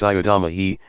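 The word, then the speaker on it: ψεύδομαι: word, and the Greek word for lie is eudomai, pronounced siodomai, and means to utter an untruth or attempt to deceive by falsehood, yea, knowingly and deliberately spreading mendacities.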